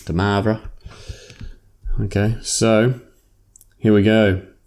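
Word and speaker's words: de Moivre: we can look at de maras theorem he was French I'm not so I say it like an Australian the Mavra okay so here we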